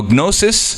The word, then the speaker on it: gnosis: means I don't know gnosis gnosis means to know in Greek that's why we have K that we don't pronounce in English cuz we got it from Greek the G gnosis so g means to